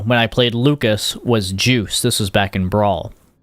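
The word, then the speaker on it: Joos: And I really love our little character Juice, which is spelled J-O-O-S, like this.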